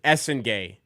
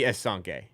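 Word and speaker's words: Essengue: He says Essengay. It's French. It's got to be Essengay. I'm sorry. It's got to be Essengay. If it's gay at the end instead of G, it's Essengay.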